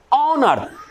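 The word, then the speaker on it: honour: तो यहां पे हम एन लगा देंगे, यहां पर भी एच का उच्चारण साइलेंट है, ठीक है।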